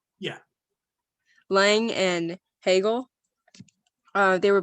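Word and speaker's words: Laing: is that how you say his name yeah lange and hegel uh they were both about self-consciousness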